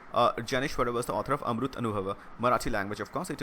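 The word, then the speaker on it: Amritanubhava: Okay, Amrut Anubhava is the proper pronunciation of that would be.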